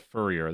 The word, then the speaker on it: Fourier: Fourier is pretty interesting because Fourier, I think it's called Fourier. That's what it is, Fourier. Someone told me how to pronounce it.